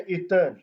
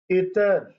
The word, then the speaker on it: عطر: خوبصورتی۔ خوش نمائی، خوبصورتی۔ لفظ ہے عطر، اس سے عموماً طلبہ عطر پڑھتے ہیں۔ آپ نے بیٹا اسے عطر نہیں پڑھنا، بلکہ اس کا صحیح تلفظ ہے عطر۔ آئین کے نیچے زیر ہے عطر، جس کا معنی ہے